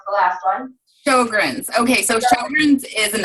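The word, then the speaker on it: Sjögren's: You have IBS, and okay, I'm not going to be able to pronounce the last one. Sjogren's.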